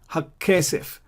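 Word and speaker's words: הַכֶּסֶף: Here again, there is a strong Dagesh. Hakkesef. Why is a strong Dagesh? Because I'm saying Hakkesef. I'm doubling the K sound.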